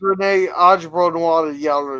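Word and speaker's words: René Auberjonois: and this Yeah, was and so before- was Renee Ajbronois, or whatever the hell I pronounce it.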